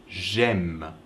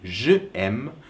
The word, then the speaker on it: j'aime: So to say I like, you say j'aime. You don't say je aime because it's hard to pronounce.